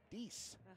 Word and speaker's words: Dix: And his last name, or the D stands for Dix, pronounced D-I-X, but it's actually Dice for the 10th grandson.